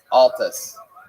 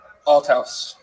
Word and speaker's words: Altouse: I'm going to say Altus. Nope. Alus. How would you say it? Altouse. Alouse. Altouse. Altouse with a T.